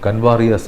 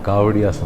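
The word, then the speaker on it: कांवड़िया: പോകുന്നവരെ കാവടിയ എന്നും പറയാറുണ്ട് ഇംഗ്ലീഷിൽ അത് എഴുതുമ്പോൾ കൻവാറിയാസ് എന്ന് വരും പക്ഷേ സ്പെല്ലിംഗ് അങ്ങനെയാണെങ്കിലും ഉച്ചാരണം കാവടിയാസ് എന്നാണ് അതുകൊണ്ടാവാം ഒരു പത്രം കാവട്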